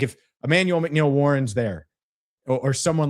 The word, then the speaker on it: McNeil-Warren: I can see McNaughton, that's not how you say his name. McNeil-Warren.